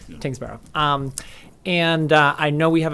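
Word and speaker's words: Tyngsboro: I always mispronounce Kingsborough, it. yeah. Tingsboro.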